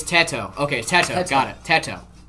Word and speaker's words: Teto: It's Teto.